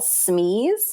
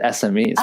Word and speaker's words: SME: work with our clients we affectionately call Smee which stands for subject matter experts have you heard that term before I have but I've never heard it said phonetically I've always just said smmes but Smee is kind of cool yeah we call them